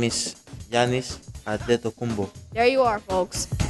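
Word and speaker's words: Giannis Antetokounmpo: My name is Giannis Adetokunbo. There you are, folks. It's to pronounce the names, but as far as the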